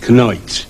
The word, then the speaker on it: knight: For instance, just before Elizabeth in English cen in the word knight like a knight on a horse was still pronounced kenoite.